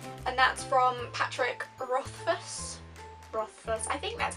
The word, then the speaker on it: Rothfuss: Rothfuss, I think that's how you say it, Rothfuss.